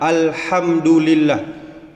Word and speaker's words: Alhamdulillah: perlu kita ketahui itu Alhamdulillah pengucapannya adalah Alhamdulillah bukan pakai h yang besar Alhamdulillah kalau Alhamdulillah maknanya